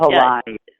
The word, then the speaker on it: Palahniuk: Is it Palahniuk? I can never remember how to pronounce his last name. But Palahniuk.